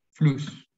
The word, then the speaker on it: Fluss: Y la SS se pronuncia como una S, pero provoca que la vocal anterior sea corta. Fluss.